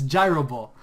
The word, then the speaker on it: Gyro Ball: to go for the gyro ball I I don't like when people will say gyob ball it's gyro ball and the only reason